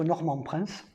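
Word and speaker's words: Norman Prince: On raconte que Normand Prince, je vous le prononce à la française, il a volé au sein de l'escaderie de la Fillette.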